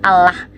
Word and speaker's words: Allah: Jadi harusnya Allah dibacanya Allah, karena ditipisin tuh.